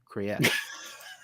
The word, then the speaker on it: Kriyash: Yeah, we don't want to call it Krish. It's Kriyash. Kriyash.